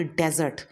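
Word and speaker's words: dessert: The correct pronunciation is डिज़र्ट।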